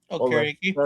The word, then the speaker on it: Okereke: Okereke.